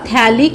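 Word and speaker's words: phthalic acid: थैलिक एसिड में pH silent है, तो ये बन गया थैलिक एसिड।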